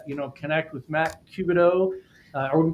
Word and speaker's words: Cubano: Um so, Trout uh you know, connect with Matt Cubido. Are we pronouncing that correctly?